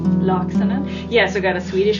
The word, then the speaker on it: Laaksonen: Laaksonen.